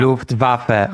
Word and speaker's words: Luftwaffe: Luftwaffe. Okay, it's Luftwaffe. It's not Luftwaffe.